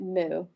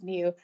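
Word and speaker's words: mu: a Greek letter that you pronounce it moo you don't it's Mew but like you know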